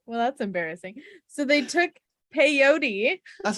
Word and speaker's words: peyote: said it really weird i've never heard that term rhyme with coyote that's what i say i said it like coyote um well that's embarrassing so they took peyote that's not the most